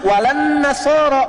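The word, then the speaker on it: ولا النصارى: Cuman kita bacanya pakai eh kan alif lamnya syamsiyah tuh ya. Lamnya masuk ke nun. Walan nasara. Padahal itu tulisannya la wala annasara. Yahudi lebih dahsyat ya.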